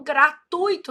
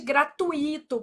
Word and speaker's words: gratuito: Então, gratuito, não existe gratuito, por exemplo, né? Ah, o certo é gratuito.